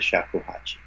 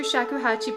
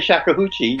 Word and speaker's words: shakuhachi: no that was at least you didn't say shakah huchi yeah shakach is was fine and um I've